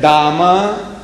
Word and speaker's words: Dame: to the toilet and it's written there Dama, D-A-M-E, Dame. They pronounce Dama and H-E-R-E.